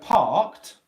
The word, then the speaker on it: parked: For example, in the word parked, okay, part. This K-E-D, the ED ending here is pronounced as a T, and you've got the K sound before it.